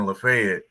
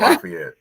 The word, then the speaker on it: Lafayette: sorry I forgot one and then lafet not Lafayette there we go let